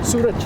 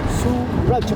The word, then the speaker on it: Suraj: Suraj, Al Suraj, which means... How do you spell that? S-U-R... Yep. Suraj, R-A-J.